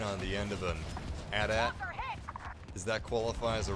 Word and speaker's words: AT-AT: The official pronunciation of that machine is AT-AT, by the way, not even AT-AT. You can pronounce it either way, I'm sure, but the official pronunciation is AT-AT.